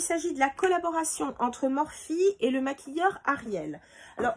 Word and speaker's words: Morphe: J'ai commandé donc des pinceaux chez Morphe, enfin ça s'écrit Morphe pour nous, mais bon c'est Morphe, les Morphe Brushes.